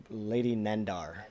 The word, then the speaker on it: Nandar: How do you say her name again? Lady Nandar. Nendar. Like Nando's.